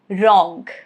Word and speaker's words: wrong: Letter W, silent if it comes before letter R at the beginning of a word. Example, wrong, rap, right, wrist, wrestle.